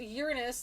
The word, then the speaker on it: Uranus: a dnd club uh pronounced uranus like it's done in latin uranus uranus is that is that randuse uranus yeah it's not the anus one okay you can also